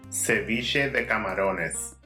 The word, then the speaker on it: ceviche de camarones: On this episode, I am going to show you how to make Ecuadorian's famous shrimp ceviche, or as it is pronounced in Spanish, ceviche de camarones.